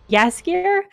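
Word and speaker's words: Jaskier: witcher he plays yaskir i'm always worried that i'm going to mispronounce that because it it is felt with a j and it does look like it should be jasper but i know it's not it uh anyway uh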